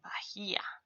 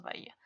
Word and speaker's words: Bahía: Si leyéramos la H del inglés, leeríamos Bahía. Pero nosotros ignoramos, así que solo leemos Bahía.